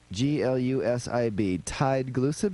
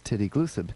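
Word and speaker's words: tideglusib: Tide Glucib is how I would have said it, but in England they say everything literally, so they say aluminum aluminium. And he says titty glucid.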